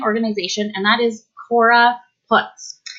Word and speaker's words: Putz: So it's spelled P-U-T-Z. We like to joke that she didn't marry a Putz, she married a Putz. So I always say in my head, Cora puts it down to remember I'm saying it correctly so that you know.